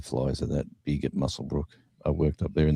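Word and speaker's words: Muswellbrook: Mus Muswell Brook is very um much pronouncing it as it looks, but it's called Muselbrook. Muscle. Oh, the W is silent. Okay. Yeah. Muscle Brook.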